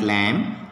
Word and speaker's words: lamb: So, B is silent in certain words like lamb, bomb, tomb, limb, dumb, etc.